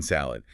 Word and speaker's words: salad: In Portuguese, you say salada. You open your mouth for an ah sound at the end, but in English, it stops the D salad. The final consonant sound is very short.